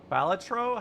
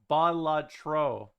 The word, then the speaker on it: Balatro: I I'm from Finland. It's the first and last syllables. You stress.